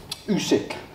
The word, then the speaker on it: Usyk: Someone told me off for pronouncing his name wrong. So I want to make sure I get it right. Usyk.